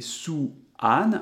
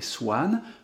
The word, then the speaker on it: Swan: Et ici, on ne va pas prononcer Sou-an avec 2 sons voyelles bien distincts, mais Swan, le W n'est pas ici une voyelle, c'est également une semi-consonne.